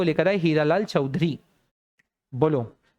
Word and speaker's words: Chaudhuri: नाम था हीरालाल चौधरी, चौधरी नहीं चौधरी, क्योंकि उनकी स्पेलिंग से आप उसका प्रोनाउंस करेंगे, it's Hiralal चौधरी, CHAUDHURI चौधरी, इट्स नॉट ARY या OURY जो वो चौधरी लोग लगाते हैं, ये चौधरी है, हीरालाल चौधरी।